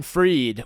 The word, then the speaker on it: Fried: And then if you're watching this on YouTube right now, you could actually search Freed, When the Edible Hits, and that's Freed spelled like fried, F-R-I-E-D.